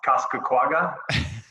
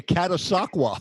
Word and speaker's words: Catasauqua: in New York going can't pronounce Costco quagga that actually was in Pennsylvania Catasauqua yeah Catasauqua Pennsylvania Catasauqua it's